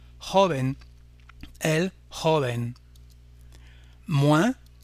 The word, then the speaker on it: joven: En espagnol, jeune se dit par exemple de cette façon, se termine par un N, on accentuera donc comme pour les voyelles l'avant-dernière syllabe et on dira joven, el joven.